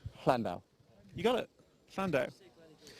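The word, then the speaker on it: Llandow: So you put the tongue to the roof of your mouth and express the double L sound, which is actually a letter in the Welsh alphabet. Landau.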